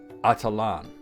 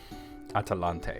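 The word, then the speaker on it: Atalantë: As a matter of fact, it was later, after its destruction, was called by the elves Atalan, which means downfallen. Atalante, actually, not Atalan. I said it wrong.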